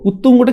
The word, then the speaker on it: উত্তুঙ্গ: উত্তুঙ্গ কি রয়েছে উত্তুঙ্গ উত্তুঙ্গটা কিভাবে উচ্চারণ করছি দেখো উৎ উচ্চারণ করছি না এইভাবে তারপরে কি আসছে তারপরে